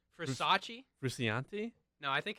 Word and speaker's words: Frusciante: Frusciante? No, I think it's Versace. Versace. Versace. Isn't it Frusciante? Oh, no. It's definitely not Furciante.